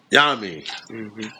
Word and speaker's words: Yamin: Am I pronouncing your name correctly? Yamin. Yes, sir. Yeah, Yamin. Yep. Like Yamin. Yeah, that's Right.